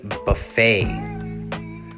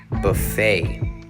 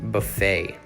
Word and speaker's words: buffet: okay number nine is buffet buffet now even though this word has a t we don't pronounce it buffet the definition is a